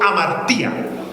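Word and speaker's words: ἁμαρτία: y a otros más se escribe la palabra pecado como amaría digan conmigo amaría con h y con tilde al final amaría y Qué es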